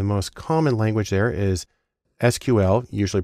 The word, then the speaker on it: SQL: important too the most common language there is sql usually pronounced sql which stands for structured query language because that's